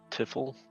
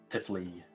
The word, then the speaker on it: Tifley: Just as a refresh, Tiffle, is that right? Tifley. Tifley, Close.